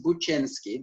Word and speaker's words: Buczynski: name is and the last name is buchenski this is how we pronounce it i'm um i'm polish and um you can